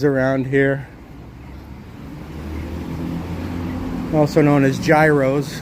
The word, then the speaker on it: gyro: also known as gyros. And yes, that's how you pronounce it. Gyro.